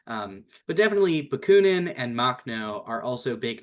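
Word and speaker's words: Makhno: So, let's talk about anarchocomunism because we just I just saw some chats about Machnau, which is that how I pronounce it, Caitlyn? How is it for for Yeah, it's Machno.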